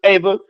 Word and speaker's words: Eva: And your name is pronounced Ava.